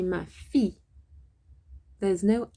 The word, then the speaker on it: fil: Le petit chat, okay, qui se fait brûler par le fil des lumières du sapin de Noël.